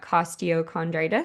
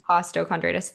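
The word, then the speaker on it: costochondritis: The other question I had is the diagnosis that you got costondritis. Is that how you pronounce it? Costtoondritis. Costtochondritis.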